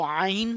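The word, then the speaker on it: ع: जो हिस्सा है इससे आइन और हा अदा होगा। तो अभी हम ये वाला हर्फ पढ़ रहे हैं आइन, तो आइन कहां से अदा होगा, वस्ते हल्क यानी के सेंटर ऑफ थ्रोट से अदा होगा।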